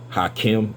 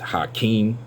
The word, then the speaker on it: Hakeem: Islam I know that it is not pronounced hi Kim it is pronounced hi King but I wanted to